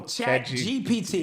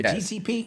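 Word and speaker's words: ChatGPT: you know G PT oh chat GPT what what I keep saying GTP yeah you you just you just been saying it wrong and it's the the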